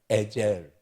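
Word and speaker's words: עזר: 에젤. 헬라 히브리어 발음 그대로 에젤.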